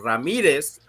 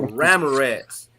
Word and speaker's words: Ramirez: the courthouse and i changed the pronunciation of my name from ramirez to ramorez so my name is